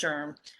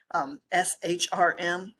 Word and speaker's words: SHRM: It's pronounced SHRM, SHRM.